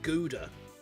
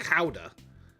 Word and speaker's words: Gouda: I was like, it's not pronounced Gouda. It's pronounced Chowder, right? Chowder. And she's like, no, it's not. And I was like, it is. Because I know Dutch people.